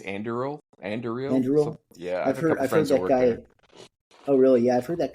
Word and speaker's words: Anduril: I think it's Anduril.